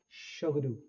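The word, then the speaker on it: Tshogdu: ये भूटान का पार्लियामेंट है बेसिकली बच्चों, जिसकी प्रोनाउंसिएशन है शोगडू.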